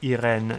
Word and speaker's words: Irene: and hope we cross paths with um Iron Metric, Irene Metric. Her name is pronounced Irin in French.